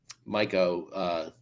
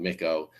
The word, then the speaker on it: Micco: And so, Micco, I pronounced it wrong, Micco.